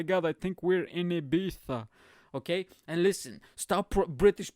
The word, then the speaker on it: Ibiza: you 10 years but when you pronounce spanish names of cities or food or whatever pronounce it in english i don't want to hear abitha abita last year we went to ibiza no you went to